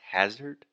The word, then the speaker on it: hazard: So that first sound is the ah, just like dad, master, disaster. So the correct pronunciation is hazard.